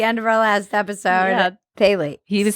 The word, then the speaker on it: phthalates: Thalates. He was saying it's a ph but it's pronounced phthalates.